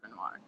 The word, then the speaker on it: Renoir: Yeah, it's Renoir.